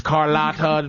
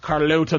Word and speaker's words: Carlotta: My name is Carlotta, pronounced Carlota to some.